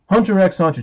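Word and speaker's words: Hunter × Hunter: Hunter x Hunter 2011. Yes, you are supposed to pronounce the X, I checked.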